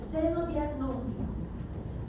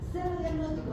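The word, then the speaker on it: xenodiagnóstico: Y algo que no está aquí, que lo tienen en su texto, pero lo voy a explicar, es el senodiagnóstico. Senodiagnóstico se escribe con X al principio.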